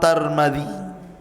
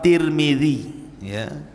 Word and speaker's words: Tirmidzi: kota sebuah daerah dan ada yang kemudian membacanya tarmid ada turmul ada tirmid jadi ada sebagian dalam mengatakan Imam tarmadi ada yang mengatakan Imam turmuzi ada yang mengatakan Imam Tirmidzi walaupun yang masyhur adalah Imam Tirmidzi dan itu yang dikuatkan